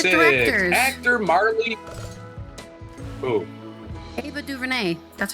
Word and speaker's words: DuVernay: Ava DuVernay.